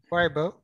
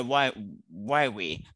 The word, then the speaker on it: Huawei: How do you pronounce this again? Why? Weibo. No, not Weibo. Huawei or Huawei. Huawei. Yeah, Huawei.